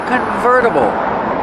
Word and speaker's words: convertible: It's a convertible. Pronunciation, converta. Verta. Use a fast D. The T changes to a fast D.